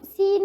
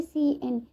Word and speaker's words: cin: ठीक है, सो सीन हम थोड़ा पढ़ लेते हैं। सीन को हम कैसे प्रोनाउंस करेंगे, किन या सिन नहीं, इसे हम करेंगे सी एन।